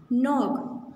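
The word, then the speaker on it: knock: क्या करते हैं, नॉक. तो नॉक की, नॉक में क्या साइलेंट है, के साइलेंट है.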